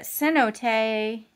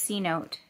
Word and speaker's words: cenote: a little bit monarcha cenote which is by the way not pronounced c note if you like me